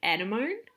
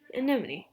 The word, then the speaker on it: anemone: by espionage fun fact i used to think anemone was actually animone because i know i was never told how to say pronoun like how to pronounce that until my nan said oh is that anemone like yeah how do